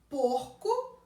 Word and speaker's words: porco: Porco, porca. Porco, porca. Porco eu pronuncio com esse O fechado. Porca eu pronuncio com o O aberto.